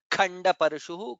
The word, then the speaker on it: खण्डपरशुः: Khanda Parashuhu, Kha is Mahaprana.